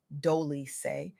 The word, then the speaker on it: Doli: What she shared with me during our conversation on the Softgirl Era podcast hosted by Doli, pronounced Dooly, is nothing short of transformational.